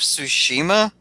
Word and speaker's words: Tsushima: go to church but I think ghosts of Tsushima is how you say it you know wait